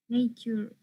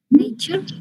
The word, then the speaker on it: nature: you pronounce these words nature nature in nature so you know that the t in the company of u changes to ch nature well something similar happens